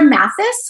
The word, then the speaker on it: Mathes: it's pronounced differently but it is actually pronounced the same as it would be if it was with an i s well thank you for